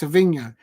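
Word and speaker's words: Savinho: and watch that individual performance from saevinho um pronounced his name properly yes Savino uh from Manchester City brilliant individual um take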